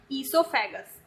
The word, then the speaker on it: oesophagus: इसको क्या प्रोनाउंस करते हैं हम? ईसोफेगस।